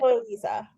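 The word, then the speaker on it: Liese: But it's do you know how to pronounce it? Chloe Lisa. Lisa. Yep. Okay. Oh, I was really off with that.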